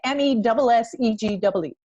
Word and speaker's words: Messegee: For everybody who doesn't know, that is my maiden name, Messegee. Do you do it this way? Messegee? Yes.